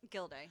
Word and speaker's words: Guilday: Oh, pronounce it Guilday.